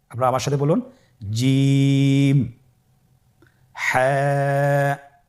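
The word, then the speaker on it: حاء: হা হরফটি উচ্চারিত হবে কণ্ঠনালীর মধ্যখান হতে। গলা চিপে ধরে আপনি উচ্চারণ করুন। আপনারা আমার সাথে বলুন হ্যাঁ।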